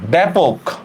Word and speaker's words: ব্যাপক: Same দেখেন ব্যাপক, এই যে একটু আগে একজন লিখছেন ব্যাপক, খেয়াল করেন জ ফলার পরে যেহেতু ই নাই, সোজা কথা কি নাই, ই নাই, তাহলে আমরা ব্যাপক, ব্যাপক যা আছে তাই ব্যাপক।